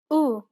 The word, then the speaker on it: أ: The first vowel sound is أ أمل شمس هرم It's identical to the A in apple. Be sure to pronounce it nice and short.